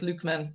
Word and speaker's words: Lukeman: And you can see here, Tom Tracy here, here's Mick Lockman, it's spelled, but Lukeman pronounced more often in Kilkenny.